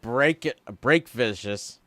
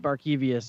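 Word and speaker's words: Barkevious: Isn't it break vicious? How do you say that? It's spelt wrong. Isn't it supposed to say Barcavius or something? Isn't it Barkevius?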